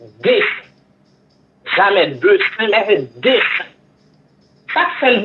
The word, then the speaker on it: dessin: Si nous apprenons un mot comme dessin. Dessin, il écrit D-E-S-S-I-N. S-S-I-N. Ça va jamais prendre accent. Tandis qu'elle prononce bouche ouverte. Dessin. Jamais dessin, mais dessin.